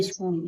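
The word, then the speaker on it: school: है H silent है एस सी S double O स्कूल स्कूल में एच साइलेंट है क्योंकि ओडी दिया है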